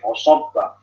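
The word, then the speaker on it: فصب: Lihat kata fasobba, ya, ayat 13 itu. Ya, ayat 13 itu fasobba, shotnya itu tebal. Ya, di lafaz fasobba, shot itu tebal sendiri.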